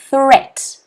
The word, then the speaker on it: threat: a tongue twister here threat it's another sound of it's an unvoiced th sound threat threat can everyone